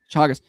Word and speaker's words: Chagas: I think it's I think it's a long a chas. Uh so the guy who can't read is helping me read this word. Chagas.